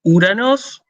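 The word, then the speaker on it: Οὐρανός: Omicron, Ypsilon, no se pronuncia O. ¿Sí? Se pronuncia U.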